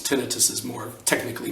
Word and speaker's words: tinnitus: get older I'm talking about tinnitus you might pronounce it tinnitus tinnitus is more technically correct but whatever the pronunciation